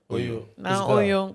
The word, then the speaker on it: Naa Oyoo: Naa Oyoo.